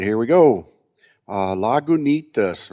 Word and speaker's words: Lagunitas: here we go uh lagunitas right on the label it tells you how to pronounce it with emphasis on the knee but i got hop